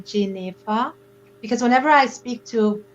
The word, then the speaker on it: Jennefer: my name jennifer jennifer it's actually pronounced jay neva because whenever i speak